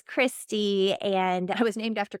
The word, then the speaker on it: Christy: It's not Christine, it's Christy.